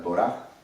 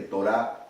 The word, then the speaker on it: Torá: más importantes en la Torá. Acuérdense que Torá no es ley, y se pronuncia Torá, como si pronunciara una J al final, Torá.